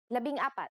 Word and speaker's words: labing apat: Labing apat.